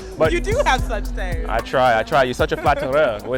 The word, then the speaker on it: flatteur: You're such a flatteur. Is that how you say it in French? Flatteuse for a female. Oh, what is it for a guy? Flatteur.